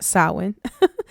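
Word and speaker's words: Samhain: It's pronounced sin uh on October 31st, but very few of us talk about All Souls Day on November 1st.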